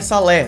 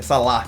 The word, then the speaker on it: Saleh: Olhem, é Saleh, não é Salah, se pronuncia, se escreve Saleh, é verdade.